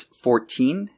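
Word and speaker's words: fourteen: The difference is that numbers in the teens are pronounced with a T sound, but multiples of 10 are pronounced with almost a D sound. So it's 14 and 40.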